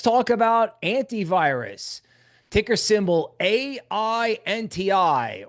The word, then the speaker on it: AINTI: about antivirus ticker symbol a i NTI or phonetically ain't I ain't I wonderful we're